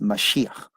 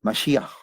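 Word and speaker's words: מָשִׁיחַ: Y se llama Mesías, en realidad es Mashiach. Y el hebreo generalmente al final se empieza con la parece como que le están molestando, pero así pronuncia, Mashiach.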